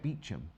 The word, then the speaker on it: Beauchamp: in place in London is spelled Beauchamp isn't it you said Beacham anyway Charming shape Cuts